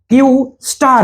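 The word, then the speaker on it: Q*: एआई का नया project जिसका कोड नेम क्यू है जिसका उच्चारण क्यूू स्टार है आर्टिफिशियल जनरल इंटेलिजेंस यानी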